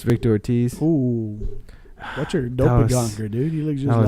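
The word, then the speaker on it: Doppelgänger: Well, actually, you're pronouncing it in English. I'm saying it the way the Germans say it.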